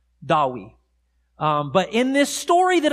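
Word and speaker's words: Dewi: they've embraced and so in welsh in the welsh language the name david today is pronounced dawi dawi but in this story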